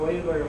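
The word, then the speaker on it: Euler: okay and that line has name called the oiler line and we spell that u e u l e r and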